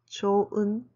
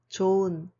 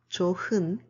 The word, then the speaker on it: 좋은: Be careful with your pronunciation. It's 좋은, 좋은, not 좋은, because the final consonant 흐 is a silent.